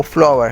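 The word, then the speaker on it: flour: इसको दोस्तों फ्लोर नहीं पढ़ना, इसकी जो करेक्ट प्रोनाउंसिएशन है वो फ्लावर है।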